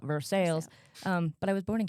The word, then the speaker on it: Versailles: Versailles, Missouri. Should be probably pronounced Versailles, but we call it Versailles.